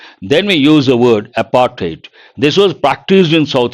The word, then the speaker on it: apartheid: And apartheid, you got to be careful with pronunciation, not a der sound, it is a ter sound.